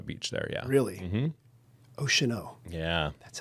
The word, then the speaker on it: Oceano: Oceano.